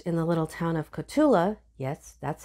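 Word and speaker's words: Cotulla: August 2009 first in the little town of katula yes that's how it's pronounced and then Laredo he rose through the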